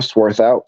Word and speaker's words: Swarthout: are yeah absolutely uh my name is sworth out so Jason you actually did pronounce it correctly um so good job